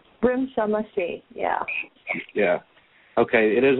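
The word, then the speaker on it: Rimsha Masih: I'm going to try to pronounce her name right. Risha Mashi, is that correct? Risha Mashi, yeah.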